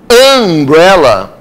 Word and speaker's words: umbrella: Quando eu pronunciei umbrella, aí realmente o som de vogal.